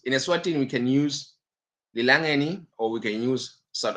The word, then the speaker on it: Lilangeni: In Eswatini, the currency is called Lilangeni.